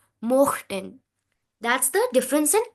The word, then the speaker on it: mochten: If it would have been umlaut, then it would have been möchten. O umlaut, io, möchten. Here, no umlaut, so mochten.